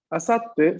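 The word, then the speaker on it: あさって: Recuerden que el pequeño tsu únicamente tiene una sola función. Si lo encontramos pequeño ahí, está solo para decirme que duplico la consonante de la sílaba siguiente. Entonces, si tengo asa, pequeño tsu y luego te, pues será asatte.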